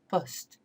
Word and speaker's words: poste: Instead of post, you're really stressing that's poste, poste, and they're not pronouncing the E on the end.